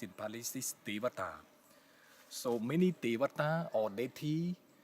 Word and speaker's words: Devata: Trees are the abode of some deity, and the deity in Buddhist word, which is pronounced in Pali, is Devata.